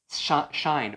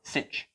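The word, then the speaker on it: sinh: we subtract these guys let's take and subtract shine or cinch there's two different pronunciations so let's do that over here if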